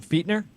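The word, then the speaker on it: Fichtner: and by the way you pronounce his name feat nur yeah you see that's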